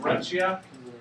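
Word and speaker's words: breccia: Shale you had Greta that's the way you pronounce that called breta you had Sandstone you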